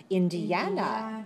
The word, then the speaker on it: Indiana: Okay, I hear some people say de-at. No. De-ya. Do not separate the syllables. Keep the syllables together. Link them to each other. Okay. De-ya. Indiana.